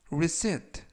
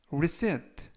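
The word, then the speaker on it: receipt: 뜻이 되겠습니다 이번 표현은 reset reset라고 발음하시면 되겠고요 이때 유의하 실점은 알파벳 p 이번 단어에서는 무음이라 발음이 되지 않습니다 품사는 명사 뜻은 영수증이라는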